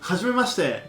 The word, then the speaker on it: Hajimemashite: No, mamá, no pronuncies con J como en el español. Javier, Jorge, no. La H en japonés se pronuncia ha, he, hi, ho. Ja, como cuando te ríes en inglés. Haji, ji, no yi, ji, hajimemashite.